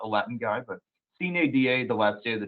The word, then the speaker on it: Sine Die: And I'm not an egghead, I promise, but I Googled how to pronounce that because I'm not a Latin guy, but Sine Die, the last day of the term.